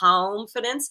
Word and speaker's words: calmfidence: And I say it like calmfidence because I recently recorded the audio version of the book.